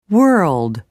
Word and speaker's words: world: are some examples large world urged for the RG ending sound follow the techniques above but for r l place a vowel sound between the r and the L try it Earl World